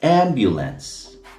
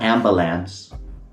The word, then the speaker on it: ambulance: And while I'm at it, it's ambulance. Just look how it's spelled. Ambulance, not ambilams. It's not ambalams. Okay.